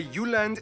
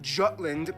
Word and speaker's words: Jutland: Denmark is made of the Jutland, not Jutland, peninsula that connects to Germany in the south, as well as 1,419 islands.